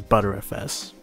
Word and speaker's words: BTRFS: You want to pick a race disc, and under it, pick BTRFS, which is pronounced as butterfs.